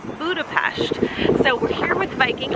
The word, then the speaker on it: Budapest: Not Budapest, as you might think it's pronounced, but it's pronounced Budapest.